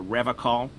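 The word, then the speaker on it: Revachol: to stay strong for rev call he pronounces Revol with a hard K unlike other people I I like to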